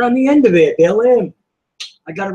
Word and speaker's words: Baalim: how do you spell it? All right. That's why I said let me read it. B-A-A-L-I. B-A-A-L-I-M.